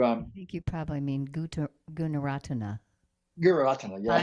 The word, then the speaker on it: Gunaratana: I forgot how to pronounce the last name, Guratana. Um, some of his books, Meditation on Perception, Oh, and I would really like to I think you probably mean Gunaratana. Guratana, yeah, Bhante Gunaratana.